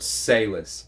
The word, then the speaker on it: Salis: It's George Salis.